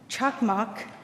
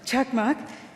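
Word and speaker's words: Çakmak: delighted to host chakmak see I got it right check mark and Jorge ous I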